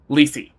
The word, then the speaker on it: Lethe: The ancient Greek pronunciation is like leta. The modern pronunciation is le like like Lii.